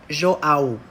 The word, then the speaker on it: João: Je m'appelle João, mais en français, la prononciation correcte est João.